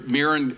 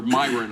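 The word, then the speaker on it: Miran: There is a little housekeeping to to consider though, whether Mirren or Myron, I guess, is how he pronounces it. Steven Myron, can be confirmed before the Fed's September 17th decision.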